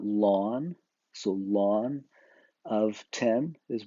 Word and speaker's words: ln: and that's just Ln usually we pronounce that lon so lon of 10